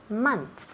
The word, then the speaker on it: month: Month se escribe M-O-N-T-H, pero esa O se pronuncia como si fuera una A. Month. Igual cuando decimos money, dinero, nunca decimos money, no, otra vez típico el Spanish, no queremos esa pronunciación. So, money, también month, esas O's se pronuncia como si fueran As, okay?